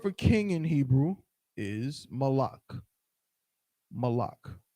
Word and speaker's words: Molech: comes from malak and and when you read in the scriptures right and you see molech we would not have pronounced it molec we would have said malak right but again i was